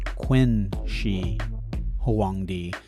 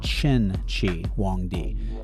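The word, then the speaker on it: Qin Shi Huangdi: Now, it's spelled with a Q i N. Some people say Quenshi Hangd, but I was taught that it's Cheni Wong D.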